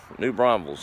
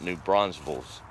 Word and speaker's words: New Braunfels: See, I even said it right. There's no S after the N. You can tell who's been there before, can't you? It's New Braunfels. It's not New Braunfels.